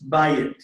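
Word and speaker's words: בַּיִת: Okay, the accent's on the front. It's bayit. Bite. So you end up, this was originally a diphthong. It was the AY, but they stuck in the here to make sure you pronounced it fully, bayit.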